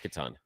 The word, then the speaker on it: Catan: Yeah, it's Catan.